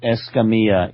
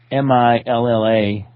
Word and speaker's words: Escamilla: Right, Escamilla. Escamilla. The two L's are pronounced like a Y.